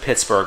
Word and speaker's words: Pittsburgh: Yes, I know they pronounce it Pittsburgh, but if they put an H at the end of the name of the city, I'm going to pronounce it the way the Scots do. It's Pittsburgh.